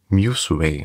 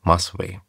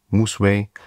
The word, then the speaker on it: Musway: falsch ausgesprochen und zwar heißt das Museway und nicht Musway. Also der Name kommt von Music ist Way, also Mus und Way, Moseway.